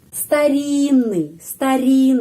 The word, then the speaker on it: старинный: Jadi kita harus mengucapkan seperti satu huruf. Старинный, pengucapannya di sini. Terus dua huruf ini pengucapannya seperti satu huruf N, ya.